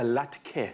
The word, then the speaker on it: latke: putting together something incredible a latke apparently that's how it's pronounced i've never heard of